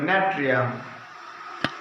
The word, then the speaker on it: Natrium: NATRIUM, ন্যাট্রিয়াম, ন্যাট্রিয়াম। কিন্তু এটার উচ্চারণ হয় কি?